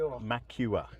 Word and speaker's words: McEwer: Did he get into McEwer there, did he? He did. So Dominic McEwer. Is that how you pronounce it? McEwer. Yeah.